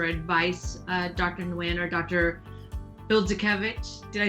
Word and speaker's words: Bildzukewicz: Bildzukewicz?